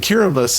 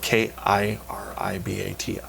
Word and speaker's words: Kiribati: country called curabus and kiribus is even it's spelled k-i-r-i-b-a-t-i uh kiribus is this looks like Kiribati Kiribati right most people would know